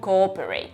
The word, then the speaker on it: coöperate: Pues mira, podía usarse en palabras como cooperate. Esto te dice que hay que pronunciar dos O's.